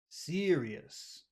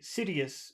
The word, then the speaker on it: serious: serious serious serious serious so you've got two things in that word number one that r that happens in your throat so uh should be longer but also uh it's the accented syllable so that's two reasons why it should be pretty long yes does that Mak sense yes serious if you say cidus maybe people will understand it maybe not depends on other things but